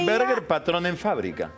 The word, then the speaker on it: Hinterberger Patronenfabrik: Tengo el nombre, Hinterberger Patronenfabrik. Ahí no sé cómo lo estoy pronunciando. Así, como lo dijiste. Pero, ¿qué proveía? Hinterberger Patronenfabrik.